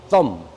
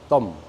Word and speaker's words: thumb: 영어로 thumb. 번데기 발음입니다. thumb.